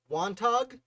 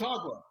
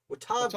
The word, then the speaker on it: Watauga: I believe it's the Treaty of Wantaga. Is that how you pronounce it? Watauga. Watauga.